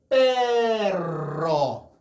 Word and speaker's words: perro: perro, hierro. 그러나 이외에 R 두 개가 있을 때와 똑같이 발음하는 R 하나인데요.